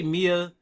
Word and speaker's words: Maya: Fe you can say Mia you can say Maya or Mia it's so uh it's like you can pronounce it two different ways I see so you